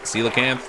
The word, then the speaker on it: coelacanth: I haven't gotten the Goliath tigerfish or the, apparently this is pronounced coelacanth, or whatever.